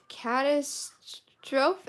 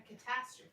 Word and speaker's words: catastrophe: it was a cat catastroph am I saying that right Mom a catastrophe A what that's how you say it a catastrophe what is a catastrophe